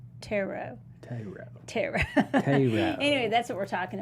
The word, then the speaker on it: tarot: it tara tara yeah people get kind of funny about how you say um taro no i don't say tear it and people really make fun of that but it's taro t-a-r-o-t somebody's tried to tell